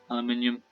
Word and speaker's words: aluminium: our plates because they not place aluminium aluminum aluminium element okay trade with the vulture probably pronounce both versions sir i hope the brits